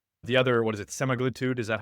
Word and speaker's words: semaglutide: You need the other, what is it, semaglutide? Is that how you say it? semaglutide, yes.